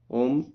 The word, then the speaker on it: ओम: उच्चारण कर रहे हैं ओम अ उ म शब्द से मिलकर बना है यह तीन शक्तियों